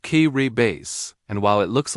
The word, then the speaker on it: Kiribati: Its name is pronounced kay base.